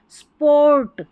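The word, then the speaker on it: sport: यहाँ देखिए स्प ओ आर को और पढ़ा गया है, बड़ी स्पेलिंग्स में ओ आर को अर भी पढ़ा जाता है, ऐसे आखिर में आता है तो। स्पोर्ट, स्पोर्ट, देखिए एस टी,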